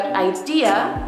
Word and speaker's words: idea: The word idea has four letters. Has four letters but three syllables.